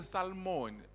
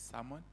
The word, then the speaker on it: salmon: When I or Salmon, no. The The L is silent. The L is silent. Is Salmon.